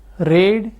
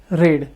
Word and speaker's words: read: तो second form को हम रेड बोलेंगे और थर्ड फॉर्म को हम रेड ही बोलेंगे।